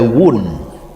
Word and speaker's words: wound: Estum from a from a eh O is not red so only you from the wood. From a wound.